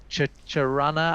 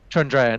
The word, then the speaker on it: Chandrayaan: And I think the estimates from LRO and from the Chicharana, I'm going to mispronounce it because I can't remember exactly what it is.